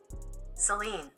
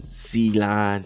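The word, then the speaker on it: Céline: It's almost like saline. Like solution for your eye. Nah, but it's it's more like Seline. Seline. Seline. And she want that Seline. Common misprononunciation. Seal line. Seline.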